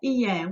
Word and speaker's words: hier: By the way, the H is silent. Did you hear that? Okay, hier, what does that mean?